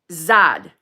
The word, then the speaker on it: Zed: my name pronunciation example Bez is pronounced as bass bass and Zed is pronounced as zad I think it's Z right like